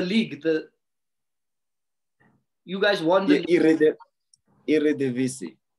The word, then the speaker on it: Eredivisie: I pronounced it before the show, man. FC20. Yeah, no, the league. You guys won the Eredivisie. Eredivisie.